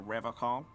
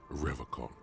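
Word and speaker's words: Revachol: But someone has to stay strong for Revacol. He pronounces Revacol with a hard K, unlike other people.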